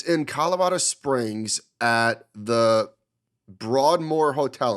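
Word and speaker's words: Broadmoor: Colorado Springs at the Broadmore Hotel am I getting that right broad more yeah how about that how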